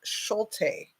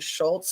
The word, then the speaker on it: Schulte: Crystal Turner and kylan Schulte and I think I said her name wrong yesterday kylan Schultz I think is what I said so you guys might